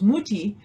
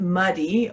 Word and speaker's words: Mutti: For a long time, the title was Mutti, which means mom in German. And then the publisher decided that's not going to work. And I totally understand why, because people are likely to mispronounce it muddy, or even if you